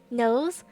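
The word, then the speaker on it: Nous: Knows, N-O-U-S. Knows. I think that's how they pronounce it.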